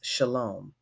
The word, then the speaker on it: shalom: It is a greeting used by people of all Abrahamic faiths, except that an H has been inserted for Hebrew, and it is pronounced shalom.